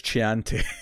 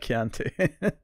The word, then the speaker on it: Chianti: double scar to then this white which he mispronounced is the wine first oh yeah because it says Chianti instead of Chianti yeah yeah and the way just kind of